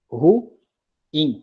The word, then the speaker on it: ruim: isso é verdade é ruim tá certo então nesse contexto aqui essa palavra aí a gente escuta estão palavra ruim ou ruim é uma palavra de duas sílabas tá bom beleza e